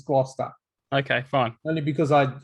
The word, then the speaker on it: Gloucester: it's actually a place in england and it's pronounced gloucester gloucester yes well they need to drop the e